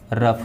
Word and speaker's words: rough: Okay, यदि किसी शब्द के लास्ट में OUGH आता है तो इसका उच्चारण ऑफ होता है। जैसे ROUGH। दोस्तों ROUGH से क्या हो जाएगा, रफ हो जाएगा।